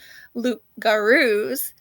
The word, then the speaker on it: loup-garou: The loup garou, I know how to pronounce that.